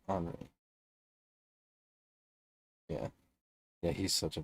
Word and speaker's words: Henri: Terry Henry is the king, though. I knew Tommy was gonna say that. Henri is how you say his name, though, right? Henri.